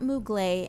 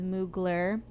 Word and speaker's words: Mugler: unquote correct my pronunciation it is not mugly and i know that it is mugler but person who corrects